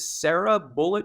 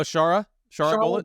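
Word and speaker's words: Shara Bullet: and you might have to um help me pronounce his name unless it's um is it is it Sarah bullet or Sara bullet oh Shara Shar bullet bullet now this guy's just I think he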